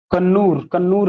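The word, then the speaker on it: Kannur: जो तमे जेन्युइन कथा कन्नौर नहीं कन्नूर कौन लिखছে स्पेलिंग CONNORE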